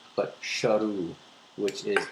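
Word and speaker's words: Sheru: And also he was also mispronouncing his own name which was not Su but Shahu which is s h e r u which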